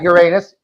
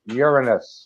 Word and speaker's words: Uranus: Not Uranus, Uranus. We're going to go back to the old pronunciation.